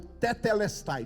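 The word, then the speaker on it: τετέλεσται: Os teólogos que estudam as línguas originais da Bíblia dizem que está consumado é uma palavra grega que é pronunciada como tetelestai. Diga comigo, tetelestai.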